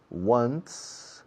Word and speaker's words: once: I go to Morocco about once, una vez, once, como el número 1, one, con una sonido de S al final, once.